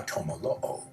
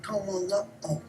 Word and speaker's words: tomolo'o: Linguists say that's how the Chumash would have pronounced the Eastern Central Polynesian word for the same boat, one they called a tumura'au. They would have trouble pronouncing that and would come out tomolo'o. That's very normal, regular in Chumash.